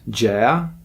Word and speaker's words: Gea: comic book about well the main character is Jaya that's how it's pronounced her name in Italian and uh she